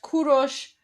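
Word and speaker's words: کوروش: So, uh Kuro Cyrus is pronounced Kurosh, Darius is pronounced Daryush, and Xerxes is pronounced Khashayar.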